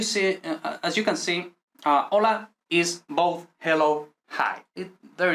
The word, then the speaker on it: hola: learn this not like we don't pronounce h ever so hola it could be written